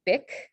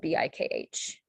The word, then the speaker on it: bikh: guessing this right um the ka sound uh spelled with the kh in sanskrit or and or hindi um and so this word is spelled bikh one more example let's